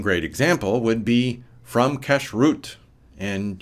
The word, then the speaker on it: kashrut: One great example would be from kashrut, and yes, it is pronounced like cash-root.